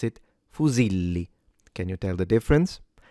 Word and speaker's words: fusilli: in the middle and there is a double L which produces a longer or stronger sound. So if there was only one L you would have pronounced it fuzili but because there are two you pronounce it fuzili.